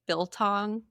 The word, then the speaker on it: biltong: It's so funny that you say that because I was passing biltong jerky.